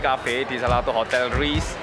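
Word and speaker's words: RYSE: Oke, sekarang kita lagi di kafe di salah satu hotel Reese. Reese, Rice, how do you say? Rice, R-Y-S-E.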